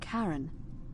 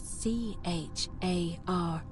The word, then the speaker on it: Charon: It's just as you described it, only your pronunciation is a little off. The name you heard wasn't Charon. It was C-H-A-R-O-N, as in Charon, the ferryman of the dead.